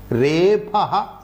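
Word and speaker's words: repha: ra plus ipa gunaha repaha bhavati. Repaha means ravarnaha icharthaha. Generally, the grammarians or the Shishta Vyavahare, people who correctly pronounce the grammatical points, they don't say rakara. They say repa.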